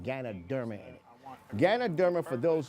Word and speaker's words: Ganoderma: And the reason why organo is a healthy coffee is because it has something called ganoderma in it. Ganoderma, for those who don't know, is spelled G A N O D E R M A.